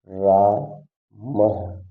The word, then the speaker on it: रामः: और या जैसे आप लगाया है तो इसका उच्चारण हा करते हैं। क्या उच्चारण करते हैं, हा करते हैं। जैसे रामः, रामः।